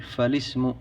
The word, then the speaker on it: فالاسم: تقول فالاسم انما تقول فالاسم لان الهمزه التي في اسم همزه وصل وهمزه الوصل لها تنطق ومن الخطا عند بعض طلاب العلم ان يقول مثلا الاسم هذا خطا لان الهمزه همزه الوصل لا تنطق بها اذا وصلت بغيرها قال فالاسم يعرف بالاسناد